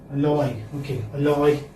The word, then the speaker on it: alloy: me any other word alloy okay what does a lawyer mean a loyalist what does it mean a lawyer mixture aloy now this this one is you know second uh syllable is stress okay so i think